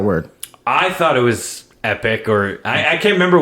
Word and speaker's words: epoch: called an epic or an epoch epic that is right it feels so good